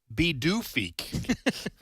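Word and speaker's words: Pituffik: I T U FF I K and it's pronounced B doofi.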